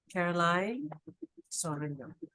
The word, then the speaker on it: Caroline: once again please if I mispronounced it I pronounce it correctly it's Caroline you have such a soft and sweet voice